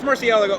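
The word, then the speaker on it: Murciélago: built this car which is a 2003 Lambo Murcielago right you said it right I said it right yeah not for the internet though Lago yeah yeah well it's Murcielago order whatever tell me about this car this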